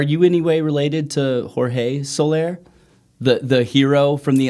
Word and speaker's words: Soler: your last name so we say solar okay the correct pronunciation would be solaire okay is that is